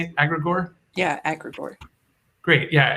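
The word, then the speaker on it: Agregore: Yeah, Agrigor.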